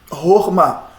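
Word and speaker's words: חָכְמָה: Horma. Olhou, gente, sílaba fechada, terminou numa consoante, não tem acento, não tem méteg, não tem nada. Terminou com Shiva. O Shiva só está indicando, gente, aqui. O Shiva só faz indicar que, na ausência de uma vogal, fechamos com Shiva mudo. Então, Shiva é mudo, a vogal é breve. Então, eu tenho aqui Ror. Ror. A acentuação está no final, Ma.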